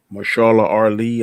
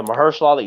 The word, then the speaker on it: Mahershala Ali: I am very curious to see what Marshala Ali, I think that's how you pronounce his name. Yeah, Mahershala Ali.